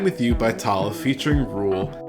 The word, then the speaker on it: RVLE: The theme music for Bants is the track Time With You by Tala featuring Rule, and that's spelled RVLE, and is provided by No Copyright Sounds.